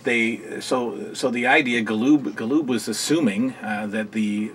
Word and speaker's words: Galoob: about series to WCW Galoob figures see how I said that lube that's the that's the proper way to pronounce it in Lube as you